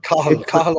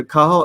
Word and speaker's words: Cathal: Cathal O'Shannon. Yeah. That's him. That's the guy. Yeah. Cathal. Yes, I couldn't pronounce that's the Irish. Yeah, Cathal O'Shannon interviews him.